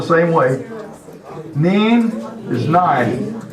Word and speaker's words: nin: Neen is nine. The difference between this neen and German is nine and neen. German is N-E-I-N, and Alsatian is N-I-N or N-I-E-N. Both of them are acceptable.